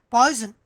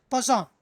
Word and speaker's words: Poisson: It is not poison. Please remember that. Many people will read it as poison. It is not poison. It is Poisson, as name of the scientist.